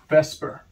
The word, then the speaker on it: VSEPR: the sulfate ion has resonance next topic is Vesper yes it's spelled like this it's an abbreviation a Vesper